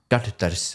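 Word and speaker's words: girders: gers don't they and you have to say it like that gers yeah gers if you're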